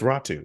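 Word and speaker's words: Räty: that all week um it's raw two it's not that weird because there's like a y so like it's ratu sorry about that it's okay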